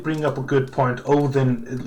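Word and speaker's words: Óðinn: Odin, like you would say Odin, but there's no D. It's an eth or a the, so it's Odin, and the O is actually with a comma, because our uncommened O's, these circles are pronounced as O, just O.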